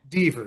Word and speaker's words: Deaver: Dver or Dor. I never think I pronounced it right. Dver. You were correct. Dver. I was right the first time.